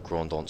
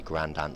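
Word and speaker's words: Grand Anse: English colony and so all the place names are French but the pr correct pronunciations of them are the incorrect English pronunciations of them so the main Beach is called the grandon beach but you actually call it the grand an Beach short and pulled away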